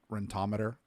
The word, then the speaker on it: Rentometer: one is called rentometer rental meter is Oracle pronounced rentometer apparently somebody told me that the other day if